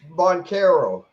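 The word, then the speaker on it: Banchero: Boncaro.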